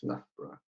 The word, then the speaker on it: Loughborough: If you're wondering where's Loughborough, it's here, right in the center of England, between Leicester and Nottingham. And yes, it's so many letters and just 2 syllables, Loughborough.